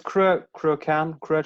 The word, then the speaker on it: Cruachan: It's Cruachan.